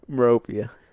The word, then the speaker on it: Miropija: How you say it? Miropija? Miropija. Miropija?